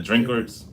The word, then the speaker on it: Drinkard: The family was called the Drinkards. Yeah, Who? the Drinkards. I think that's how you pronounce it.